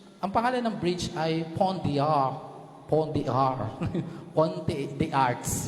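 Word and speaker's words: Pont des Arts: pangalan ng bridge ay Pon dear Pon dear ponti the arts yon pero silent s nga po sila ' ba Pon De a pagpunta niyo po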